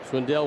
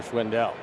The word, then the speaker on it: Schwindel: No bias at all for Schwindel. He has said before in an interview, people ask him how to pronounce his name. He says, Schwinn like the bike, Dell like the computer.